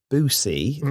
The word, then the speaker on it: Boosey: Because it could be Boosie or Boozy. I don't know. Well, it's spelled the same as the music publishing house Boozy and Hawks. Okay. And that's pronounced Boozy.